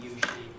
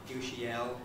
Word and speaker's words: usually: because it is actually when you hear somebody saying usually ushiel the english listener is